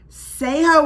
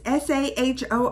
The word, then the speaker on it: Saaho: I might do so say how was the trailer it's not how you say it's SAH oh oh new movie that